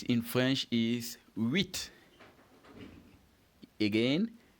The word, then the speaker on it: huit: 8 in French is huit. Again, huit. And how do you spell huit? It is H, which of course is silent in the pronunciation.